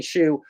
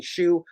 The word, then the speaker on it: Hsu: This is Tony Hsu. Remember, you pronounce it like the shoe on your foot.